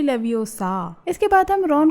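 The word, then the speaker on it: Leviosa: ये मंत्र है लेविओसा, न कि लेविओसा।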